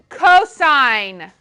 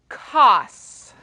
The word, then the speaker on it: cosine: it is sine okay this one is cosine it is not cos cosine i'm going to ignore you if you say cos i'm just not even going to like respond to you i might give you a dirty look okay it is cosine this is tangent this